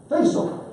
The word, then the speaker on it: Faisal: Is it? Pronounce that for me. No, the last name. Faisal. I did pronounce that correctly.